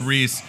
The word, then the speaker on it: Riis: it Jacob how do you say his last Rhys Jacob Riis how the other half lives that's gonna be